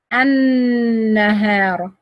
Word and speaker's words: النهار: Because the lam merged with the noon and became noon shadda. Lam shamsiya, I don't pronounce it at all. It's silent. You say an. النهار.